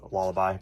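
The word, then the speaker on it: Lullaby: I we are reading lullabi of the Dawn I'm quite embarrassed because I wasn't able to pronounce that word now I know it's laabi but anyways um volumes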